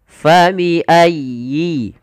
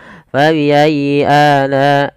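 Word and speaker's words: فبأي: Kemudian di lafal huruf ya bertasydid itu ada lembut di dalam pelafalannya, tekan. Ayyi, fa bi ayyi. Dan sempurnakan kasrah pada huruf ya-nya, jangan fa bi ayyi ala, tidak sempurnakan kasrahnya.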